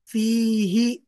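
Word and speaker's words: فيه: Fihi. Nah, nyambung sama kalau hu nyambung sama fi biasanya dibaca fihi, fihi, fihima, fihim, fiha, fihuma, fihima ya afwan, fihima, fihinna.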